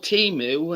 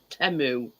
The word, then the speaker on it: Temu: Well, it's that we call Timu, and it's called. It's actually pronounced Temu.